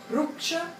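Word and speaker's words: rūkṣa: Então, aqui a gente tem, o seco é Ruksha, e esse U também tem mais tamanho. Sempre que tiver um tracinho em cima é que ele tem duplo tempo de pronúncia.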